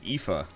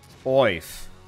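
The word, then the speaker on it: Aoife: A-O-I-F-E is actually pronounced IFA. Really? It looks like wife. Oif.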